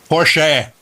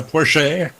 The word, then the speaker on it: Porsche: Well, Ferry Porsche, when I met him, said Porsche. Porsche. Oh, Porsche. Yeah, it's Austrian, and that's how they pronounce that final E. It's sort of like a little bit of a sachet. It's a Porsche.